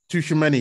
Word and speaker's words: Tchouaméni: I don't even know how to pronounce his name. Tchouaméni, yeah.